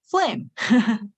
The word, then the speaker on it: phlegm: Okay, note, the noun phlegm is pronounced phlegm, just like that.